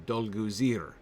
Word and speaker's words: Dolguzir: a corsair captain named dolgool uh dolgoozier dolgozir probably dolguzir okay stress on the last syllable interesting and their leadership